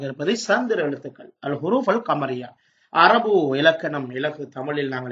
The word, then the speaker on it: القمر: அதுக்கு நாங்கள் அல்லை சேர்க்கிறோம், அல் கமரு.